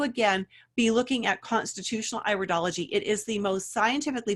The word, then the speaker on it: iridology: alright iridology it's pronounced iridology not iridology all right and we iridology it's the iris of the eye it's not the ear so its iridology so